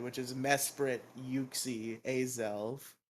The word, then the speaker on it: Mesprit: always said exactly what Alex said which is Mesprit yuie AEL it's not mesp it's Mesprit ah well I've never been go with Pokemon names anyway it's Mesprit yeah there's only one I m s p